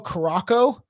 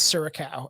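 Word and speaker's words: Curaçao: different uh flavors and I used to call karako and it's suracao and I remember our brother being like that's not how you pronounce it we were pronouncing it wrong for a long time but [ __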